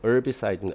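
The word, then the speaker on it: herbicide: 이거 허브, 우리말로는 이제 허브라고 발음을 하지만은, 일단 영어식으로는 이제 어비사이드, 어브라고 발음을 하죠.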